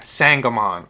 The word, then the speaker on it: Sangamon: last night last time he wrote on there exactly what it is and pronunciation sang oh mon sangamon sorry man i'm not